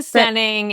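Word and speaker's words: Steyning: Explain the stening and spell it, please.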